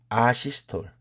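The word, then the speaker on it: asystole: 그러면 우리가 아시스톨 또는 에이시스톨이라고 읽습니다.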